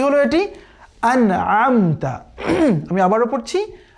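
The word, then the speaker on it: أَنْعَمْتَ: সঠিক হচ্ছে শুরুতে পড়তে হবে আলিফ, এরপরে পড়তে হবে আইনের উচ্চারণ, তাহলে সঠিক হবে।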